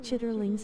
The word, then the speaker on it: chitterlings: gross man kinda like chitterlings it stinks if it doesn't get washed okay foreign testines most people eat it with hot sauce no thanks most people pronounce it like chitlings okay I'm trying to